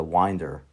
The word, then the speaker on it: winder: device known as a winder was used. The I is pronounced as in wine.